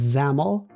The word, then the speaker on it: XAML: of XML that I'm told is pronounced xaml and there is e